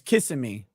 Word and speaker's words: Kissimmee: violated his probation you said kiss me it's Kissimmee Kissimmee kissing me uh that's a kis if